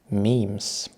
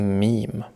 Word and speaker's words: meme: It should be pronounced to rhyme with cream.